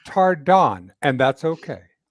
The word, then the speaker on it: Tardan: an O So and it's on the second syllable so it's tardon because everyone calls her mad out matter right doesn't matter it's tardon and that's okay right